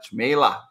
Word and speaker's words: Cmejla: piper and uh his name is uh chamela did i pronounce it right you did yeah one silent